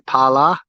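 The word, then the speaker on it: Phala: And this is a sub-district called Pala, PH, but the H is silent, P-H-A-L-A, Pala. And this is Pala Beach.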